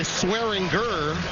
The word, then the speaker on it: Swearinger: DJ went by Swearinger a year ago, and like so many of the modern-day athletes, decided to go with the heavy G with the pronunciation of his name this season.